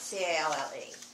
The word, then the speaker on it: calle: The LL, like, for example, if you're Kaye, how do you pronounce C-A-L-L-E? Like, That's what we have in here. LL is J. so you say Kaye, Calle.